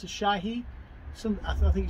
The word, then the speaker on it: Asahi: would have had this this is uh it's pronounced a Shahi some I think it's shy into it's a